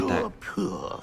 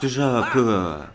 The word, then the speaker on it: Toujours pur: Toujours pure. Toujours pure.